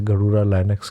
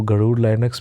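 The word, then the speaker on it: Garuda Linux: नक्स यूज करने में गरुड़ा का नाम ही हमारे इंडियन संस्कृति के हिसाब से गरुड़ जो होता है उसके हिसाब से गरुड़ा लाइनक्स कहते हैं उसको तो उसको गरूर लाइनक्स भी प्रोनाउंस कर सकते तो यह हमारा इंडियन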